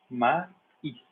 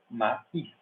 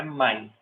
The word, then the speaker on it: maíz: Maíz, que é milho, né? Maíz, não é mais, é maíz.